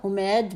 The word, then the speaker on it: حمید: شخص کا نام تھا حمید بن مسلم، کیونکہ ہر جگہ اس نام کے اوپر پیش پڑا ہوا ہے، تو اس سے